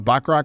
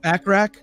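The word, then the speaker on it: Bachrach: Backrach? Backrach? Burt Bacharach. Like Burt Bacharach.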